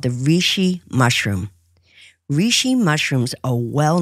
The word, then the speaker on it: reishi: There is also rishi tea or dried rishi. You can find it online and it's spelled R E I S Hi.